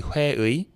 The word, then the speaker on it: 회의: And this one is 会议, technically 会议, but the 议, that extra effort that needs to be put into it, often leads to it getting skipped when pronounced in real life.